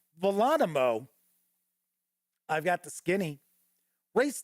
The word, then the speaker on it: Volonimo: I just keep wanting to say Geronimo, but I believe it is pronounced Volonimo.